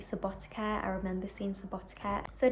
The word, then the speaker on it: Subotica: I've just realized I am pronouncing Subotica wrong. Subotica.